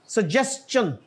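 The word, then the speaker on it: suggestion: जी आगे क्या है सजेन इट इ जस्ट लाइक क्वेश्चन क्वेश्चन को कोई मिस प्रोनाउंस नहीं करता और सजेशन को कोई सही प्रोनाउंस नहीं करता अनफॉर्चूनेटली हालांकि वही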